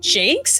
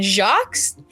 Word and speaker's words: Jacques: because Homeboy's dead, but the guy who wrote Redwall apparently pronounced his name Brian Jakes instead of Brian Jacques.